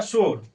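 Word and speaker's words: شور: वाओ मजहूल किसे कहते हैं? तो वह वाव जो खींच करके नहीं पढ़ा जाता है। जो डायरेक्ट पढ़ देते हैं। जैसे में हो गया शोर।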